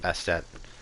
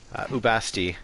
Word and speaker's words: Ubasti: Yeah, Bastet's a perennial favorite, not Bastet. Ubasti is her name in Egyptian.